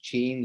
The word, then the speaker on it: Qin: Guys, we pronounce Qin like China, not Qin. Okay. Okay. Political change. Qin. Yes, the Qin.